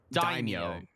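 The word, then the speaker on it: 大名: Daimyo.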